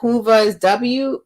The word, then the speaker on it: Whova: By the hour, it's about WOVA, WHOVA. Yeah, it's called Hoover. It's WHO, right? Like you spelled it, WHOVA. I've been saying it wrong.